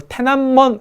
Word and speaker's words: 톈안먼: 있고 그 앞에는 문이 천안문 바로 톈안먼 으로 발음이 되는 바로 태어난 번 있는데